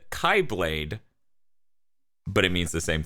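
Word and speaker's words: χ-blade: In it, Sora must stop the evil Xehanort from acquiring the X-Blade, pronounced Keyblade, and accessing Kingdom Hearts, the heart of all worlds.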